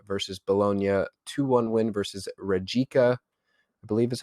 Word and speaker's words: Rijeka: Their recent results are a 1-0 win versus Bologna, 2-1 win versus Rijeka, I believe is how you pronounce that.